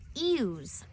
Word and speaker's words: ewe: These other little ones are what we call ewes. That's a funny way of saying it, huh? It is spelled E-W-E, ewe.